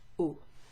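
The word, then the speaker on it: eau: do you pronounce that it's pronounced just like the letter o in french oh if you're asking for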